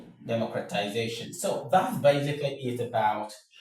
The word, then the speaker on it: democratization: So, we have demo cra ti za shun. Democratization.